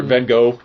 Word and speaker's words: Van Gogh: But yeah, but the stuff with Van Gogh, or however Van Gogh is how I pronounce it because I'm American.